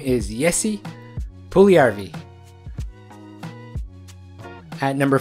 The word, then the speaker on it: Puljujärvi: The correct way to pronounce this player's name is Jesse Puljujärvi.